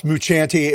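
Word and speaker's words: Mucciante: the help of timothy muciante i think that's how i don't know maybe they say muchani i don't know uh how it's pronounced uh well it's muchanti and you did real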